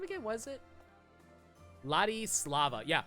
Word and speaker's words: Ladislava: It's just, I don't know, like if they're going to feature characters like Ladislava, how do you say your name again? Was it Ladislava? Yeah, Ladislava.